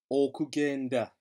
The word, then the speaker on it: okugenda: Again, this G is a hard G because it's followed by the letter E. So remembering okugenda, and don't be tempted to pronounce that as okugenda, because you're an English speaker and you're familiar with the word agenda.